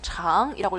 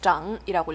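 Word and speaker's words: 长: 요거 여러분 알고 계시듯이 장이라고 읽으시면 안 되고 g 장이라고 읽으셔야 돼요 장이라고 읽으면 무슨 뜻이냐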